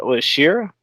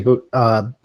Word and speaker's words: Shida: I know certain brackets, the deep matchup versus Shira. I don't want to mispronounce her name. It's supposed to be Shida.